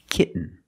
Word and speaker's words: kitten: practice with another sound when you have t-e-n -t-o-n or t-a-i-n at the end of the word and the syllable is not stressed the T makes a different sound we have to make a stop T and Link it to the N example kitten you can